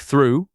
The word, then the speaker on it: through: It sounds like through, rhyming with blue.